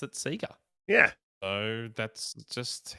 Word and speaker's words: Sega: don't know why I I still don't know why there's a long e sound on a single e um myself that was so really yeah well really it should be Sega Sega probably yeah like leg we don't say League correct it's true this